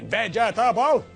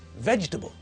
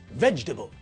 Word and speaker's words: vegetable: sound in a word vegetable when pronounced correctly has got three syllables veg book we don't say vegetable the correct pronunciation of the word is vegetable like this vegetable okay so we know